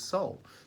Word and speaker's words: sol: The Latin word for sun is S-O-L, you pronounce it as soul.